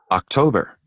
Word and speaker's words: October: October, Okay, October. We don't have here a U, but the pronunciation is October. Okay, October. It's between U and O, but it's more U.